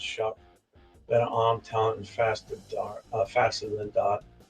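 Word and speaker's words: Shough: Pronounced Shuck.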